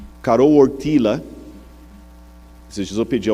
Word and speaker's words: Karol Wojtyła: E o Karol Wojtyła, esses dias eu pedi a alguém que fala polonês para me corrigir a pronúncia, Karol Wojtyła, que era o nome do Papa, ele sofreu